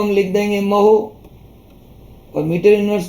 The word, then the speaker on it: mho: इसको बोलते हैं महो, क्योंकि ओम की स्पेलिंग होती है OHM, तो उल्टी करते हैं तो MHO, महो बोलते हैं।